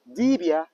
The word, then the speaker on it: dibia: language called evil evil so in evil it's called Divya dibia they actually pronounce it dibia and then in Epic